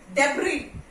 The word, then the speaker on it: debris: Okay, debris. Debris, S is silent.